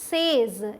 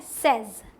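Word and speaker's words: says: आगे क्या है ये, इसे अगर आप पढ़ते हैं सेज इस तरीके से थोड़ा खींच के, तो ये गलत होगा, ठीक है। सही प्रोनाउंसिएशन है सेज, सेज, ठीक, जल्दी से बोलना है सेज। आप ऐसे वाई से बोलते हैं, बट ऐसे वाई एस सेज। आई से, यू से, बट शी सेज, ठीक। नेक्स्ट क्या है ये देखिए,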